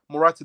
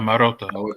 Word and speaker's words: Marotta: work solo, and he works only well with Morata, the CEO of Juventus at the time when he was at Morata. I don't know how to say his name. Morata. So Oh, It was Maruta. Marotta.